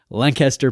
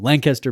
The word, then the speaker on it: Lancaster: I'm trying to say it like a local and I fail every time. Lancaster, Pennsylvania. It's like one syllable, I've been told. Lancaster, Pennsylvania.